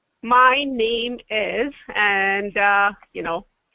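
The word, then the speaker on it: नाम: is Mea mea and name is pretty similar to you know what we say in English except it's Nam you know without e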